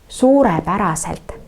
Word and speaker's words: suurepäraselt: И здесь на этом слове как бы два ударения на слово suure и päraselt. Suurepäraselt, потому что слово состоит из двух слов.